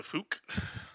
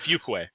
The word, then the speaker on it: Fuquay: I'm willing to bet it transports back to Fook. And I use that particular pronunciation because my son's just outside my room. Ukwe? And Yeah, it's Yeah. Fuquay.